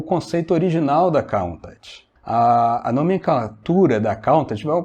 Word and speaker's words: Countach: A gente fala Countach meio americanizado, né? Mas na verdade a pronúncia certa é Countach.